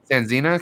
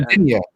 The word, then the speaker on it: Sanzinia: Sanzina. Can you tell me how to? Sanzinia. You said it right. Sanzinia.